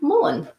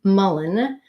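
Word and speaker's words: mullein: good picture of it is actually called common Mullen and it's spelled and Donna is our winner it's called it's spelled m-u-l-l-e-i-n common Mullen verbaskum sapsis so I could read you can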